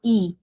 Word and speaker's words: e: Please remember that we will not say a. This is e.